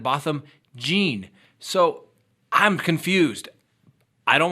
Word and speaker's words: Botham Jean: trying to correct me I've always tried to pronounce it Botham John first but then I swear scouts honor that when I listened to the trial his mother was pronouncing it bottom gene so I'm confused I